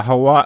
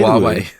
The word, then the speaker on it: Huawei: group owned by it's is partly owned by Hawaii I can't even say Huawei Huawei and car manufacturer Sears nice easy